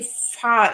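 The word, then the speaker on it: Vahr: names already so actually far in German the V is pronounced like an f and so I'm not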